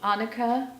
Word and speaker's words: Annika: Okay, this is about Annika, rhymes with Monica, Rose, who's an English